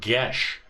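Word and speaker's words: geis: and stuff are saying it's an old celtic word pronounced gesh gesh yeah what guess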